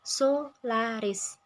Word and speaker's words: Solaris: merek Solaris milik tergugat menggunakan tiga penanggalan suku kata dalam pengucapannya yaitu Solaris Sehingga dalam pengucapannya sudah